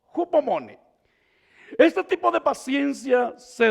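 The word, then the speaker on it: ὑπομονή: la palabra paciencia, hay una palabra que se pronuncia hupomone, hupomone.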